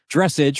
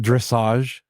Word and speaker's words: dressage: It's not dressage; it's dressage. I'm like, that's how Carrie called you out on it. How do you spell message? Yeah, it's spelled the same way, but apparently it's pretty cool.